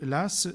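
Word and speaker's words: Law: banquier écossais John Lass ça se dit Lass même si ça s'écrit l'au hein l la W pardon hein qui euh a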